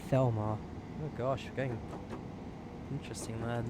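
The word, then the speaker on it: Falmer: And Falmouth is pronounced as Felmar.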